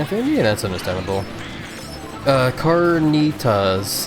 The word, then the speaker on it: Carnitas: Carnitas is how it's pronounced.